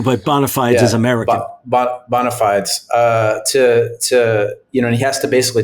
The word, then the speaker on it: bona fides: How do you say that? Bona fides? Bona fides.